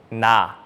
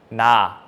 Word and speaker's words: 나: So this word is starting with 니은, with N sound, and the vowel with A sound. So it's together, 나, 나.